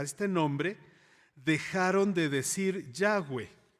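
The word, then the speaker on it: Yahweh: verbo ser y literalmente Aunque nuestra Biblia dice Jehová lo que utilizó Dios es yagüe así es como lo pronunció eso es lo que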